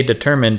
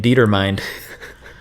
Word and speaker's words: determined: it was determined I've heard people say determined in real life and I saw the word in a book but I didn't realize they were the same and I was in my head as pronouncing it dieter mind I love that yeah